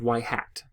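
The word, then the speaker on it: ŷ: right here this symbol this Y with a hat on the top is pronounced Y hat this is the value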